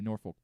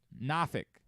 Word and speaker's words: Norfolk: Norfolk. I'm just going to keep saying Norfolk. It's not Norfolk. Not there. That's how you know you're not from there, if you go down there and say that.